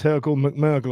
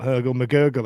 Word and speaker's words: Hergle McMurgle: I've just realized that's Hergle McMurgle and not Hergle McGurgle as Ash has called him every single time he's commented. I that's the first time I I I went, "Steve, you just pronounced that wrong." No, Ash's been pronouncing it wrong for like two years.